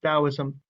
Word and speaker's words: Taoism: being core society taoism sometimes written with a d sometimes written with a t but still pronounced taoism believed in an overarching